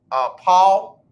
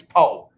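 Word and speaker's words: Pough: You've got Oliver Buddy Paul over at South Carolina State, and I know I've said his last name wrong. I think it's Poe. Oliver Buddy Poe at South Carolina State.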